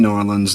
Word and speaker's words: New Orleans: Um, but I was taught by a buddy of mine in the Air Force from New Orleans. That's how you say it. New Orleans. New Norans. New Orleans. New Norans or Norlands or however it is you want to. There's variations on it.